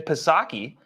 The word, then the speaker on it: Psaki: You know, he should be used to having a silent P, as Jen Psaki is his press secretary, has a silent P at her in front of her name.